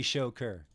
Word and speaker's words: Joker: terms of their economy Joker it's pronounced sugar oh god you guys stop it so you're talking about it's definitely show ker I checked with the man himself spammer and Fang on